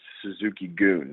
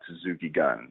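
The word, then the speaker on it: Suzuki-gun: It's Suzuki Goon, not Suzuki Gun. I know it's spelled G-U-N like gun, like we pronounce, but it's actually Goon, and Goon translates to army, so that's what it means, Suzuki's Army.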